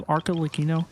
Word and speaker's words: Arlecchino: I have Arlecchino. I know it's pronounced Arlecchino.